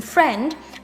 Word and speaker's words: friend: In friend, IE have the sound E.